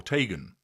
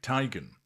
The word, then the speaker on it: Teigen: Well, initially I started off saying it twice because she didn't know how to pronounce her own surname. So, she would say Tegan or Teagan. Then she said there was a third way, Tyigan.